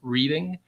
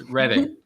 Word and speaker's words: Reading: it's not for our canadian friends it's not pronounced reading it's reddit is that correct absolutely yes right yeah exactly